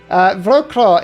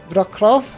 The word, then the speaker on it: Wrocław: If you've given me the name, I shall call this one Wrocław. You see, I put the V in because I know it should be pronounced like that, but it's actually spelled like that.